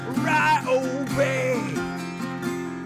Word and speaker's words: Ryobi: Say it the correct way, it's pronounced Ryobi.